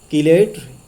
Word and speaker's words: chelate: तो यहाँ पे देखिए कुछ स्टूडेंट्स मैंने देखा क्लास में कि चिलेट भी उसको बोल रहे हैं, तो मैं यहाँ दोनों तरह का प्रोनाउंसिएशन कर दे रहा हूँ जिससे कि